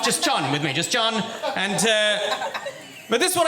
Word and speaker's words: Jon: My name is Jon. It's without an H though, so it's pronounced slightly faster than John. None of this John stuff. Just Jon with me. Just Jon.